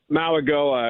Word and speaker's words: Mauigoa: going to do, and help me with the pronunciation. Francis Mauigoa, is that correct? Mauigoa, I believe.